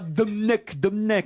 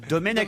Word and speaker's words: Domenech: On dit pas Domnech, on dit Domenech.